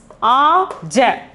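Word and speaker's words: आज: play spell it as a j so yeah we can spell it as a j but we have to say it as aj we have to say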